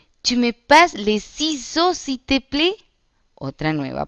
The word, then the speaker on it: ciseaux: Tu me passes les ciseaux, s'il te plaît. Otra nueva palabra. Ciseaux. La C como una S. Ciseaux. Entonces, tu me passes les ciseaux, s'il te plaît.